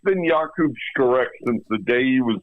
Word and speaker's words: Skarek: Look, it's been Jakub Skarek since the day he was born, but all of a sudden now it's Jacob Skarek.